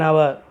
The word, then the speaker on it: hour: Okay, a speed means every, a speed of 120 kilometers an hour. An hour, here observe, hour, that is also vowel sound. Hour is a vowel sound, H is silent.